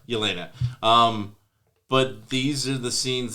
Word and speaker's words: Yelena: I love Elena. How do you say her name? Yelena.